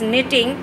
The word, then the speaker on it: knitting: And this is knitting. K is silent in this word. This word is knitting.